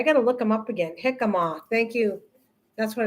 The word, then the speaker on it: jicama: g he ha comma i know the j is pronounced with the h a very crunch mild apple taste misha that's it that's what i'm talking about it's jicama that's it that's what